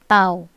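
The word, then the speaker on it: τ: Ini dibacanya tau, ya.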